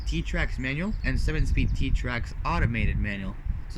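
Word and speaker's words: Xtrac: the seven speed trim t-tracks it has a seven speed t-track so it's spelled t well no it's hard enough I spelled x-t-r-a-c t I call it t-tracks us there's two versions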